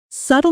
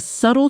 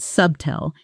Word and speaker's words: subtle: Example, there was a subtle change in his voice when you mentioned the merger. Did you catch that? Repeat subtle. Be careful with the pronunciation here, the B is silent. It's not sub-tel, it's S-U-H-T-L.